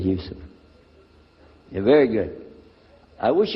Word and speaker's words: Yusuf: youssef can you say yousef and he said yusuf you're very good i wish you'd teach my wife she keeps mispronouncing it she calls me useless now how many of you were in the